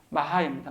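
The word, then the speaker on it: Mach: 쓰이는 그 사람의 이름 그 사람이 바로이 마하 또는 마하 우리가 바바흐 이렇게 발음하는 것처럼 마하입니다 마 그리고 오스트바이트라는 사람도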